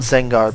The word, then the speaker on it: Zengar: I'm going to call it Zengar because that's how you pronounce it in Japanese and it's sounds a lot cooler.